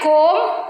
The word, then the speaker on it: comb: If it comes after the letter M, like comb, thumb.